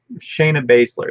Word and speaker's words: Shayna Baszler: Not a very good picture of her, but, and I'm not, Shayna Baszler, that's how you say it.